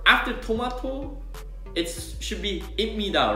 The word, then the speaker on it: 입니다: Okay, so number one is when there's pip before the mim or nin, then it always changes into mim. For example, 입니다 to 입니다, as I just said.